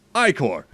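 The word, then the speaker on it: Ichor: fill it with magical e chord that's pronounced i-core choose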